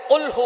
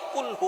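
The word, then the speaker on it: قُلْ هُوَ: দিচ্ছেন এখানে আল্লাহ পাক রাব্বুল আলামীন এখানে বলছেন কহু আল্লাহু আহাদ এখানে কফ দিয়ে পড়ছেন কিন্তু অনেকেই ভুল করে উচ্চারণ সঠিক না হওয়ার কারণে তারা পড়ে কাফ দিয়ে কহু আল্লাহ ক শব্দের অর্থ হচ্ছে খাওয়া আপনি খান্লাহু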